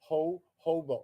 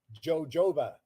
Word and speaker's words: jojoba: sounds it looks like jojoba Joe Jova well it's a Spanish word and and and and the J is silent so it isn't jojoba it's ho hoba and